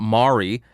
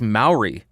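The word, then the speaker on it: Māori: so it is not maori it is not mari it is maori maori now i know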